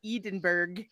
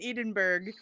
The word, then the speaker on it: Edinburgh: Okay, I'll pronounce it the Scottish way. Edinburgh. No. Edinburgh. Stop putting letters in words where you don't pronounce those letters.